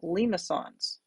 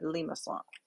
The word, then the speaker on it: limaçon: heard this word pronounced limacon limacon limasson but the i in french would be an e sound and the cydia here tells me that's a soft c so i would pronounce that limassol now all three of